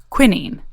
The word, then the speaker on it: quinine: We spoke with Kassia about William Perkin, who is determined to create a synthetic version of a substance called quinine, or as the Brits say, quinine.